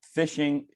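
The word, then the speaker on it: phishing: work so uh yeah the word fishing does refer to fishing as in catching fish but it's spelled with a pH which uh um in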